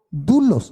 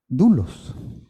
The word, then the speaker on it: doulos: Pablo está diciendo, Pablo, doulos de Jesucristo. Doulos. Se escribe, doulos, D-O-U-L-O-S, como el barco que hace muchos años vino aquí a Veracruz, doulos.